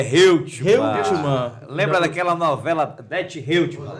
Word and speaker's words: Reutemann: Qual a pronúncia correta? É Reutemann.